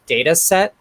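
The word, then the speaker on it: Datasette: actually a thing called data set spelled like cassette so d-a-t-a-s-e-t-t-e it's a python project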